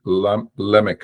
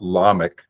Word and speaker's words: Lamech: And Lamech as well. His name was not Lamech. That is the words in pause at the end of a verse. So they lengthened the vowel on the first syllable.